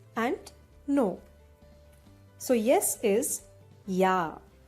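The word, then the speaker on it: ja: no so yes is ya the letter j is pronounced as year so this is ya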